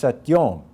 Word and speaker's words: satyoṃ: final syllable, so that if satyam ends at the end of a line in the Samaveda, it's pronounced satyom.